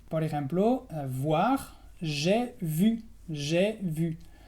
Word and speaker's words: j'ai vu: J'ai vu es la V francesa, j'ai vu.